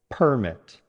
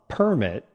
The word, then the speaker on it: permit: Stress on the second syllable, permit.